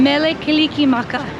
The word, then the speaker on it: Mele Kalikimaka: Merry Christmas no no Mele Kalikimaka is how you say Merry Christmas in Hawaii so in Hawaiian Hawaiian